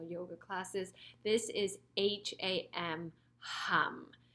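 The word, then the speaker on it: HAUM: Again, I will guide you through it, but just so you know, it's not om, which we usually say a lot in traditional yoga classes. This is H-A-M, hum.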